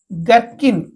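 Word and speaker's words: gherkin: तापर एच पढा जिवो नै जी आ एच पढा जिवो नै गर्किन एच टा को साइलेंट गर्किन ओके आर अर्थ छोट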